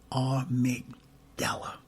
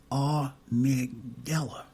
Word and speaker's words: amygdala: And I believe it is pronounced amygdala.